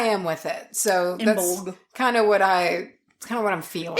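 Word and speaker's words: Imbolc: But I pronounce it with a G. That's okay. That's where I am with it. So, that's Imbolg.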